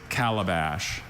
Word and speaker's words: calabash: The word is calabash.